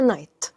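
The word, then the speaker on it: knight: الثانيه معناها فارس وهنا الكي اللي بتتكتب في اول الكلمه هي سايلنت مش بتتنطق فنطقها نايت الفارس حملعه ذا نايت بروتكتد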